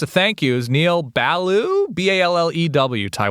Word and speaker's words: Ballew: Neil Ballew, Ballew. Ty, what are we thinking that's pronounced like? Baloo? Baloo, like Baloo the bear from the Jungle Book?